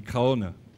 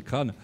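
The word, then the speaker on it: Craonne: Alors, j'ai rencontré il y a quelques années le maire de Crane, qui on dit Craon, pour ceux qui ne connaissent pas, mais à force d'y aller, il m'a appris à prononcer, c'est Crane.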